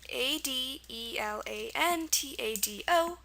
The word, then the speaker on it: adelantado: pretty clear it's Spanish it's pronounced adelantado adalon and this one is also a good follower of the rules of the Spanish rules um I think the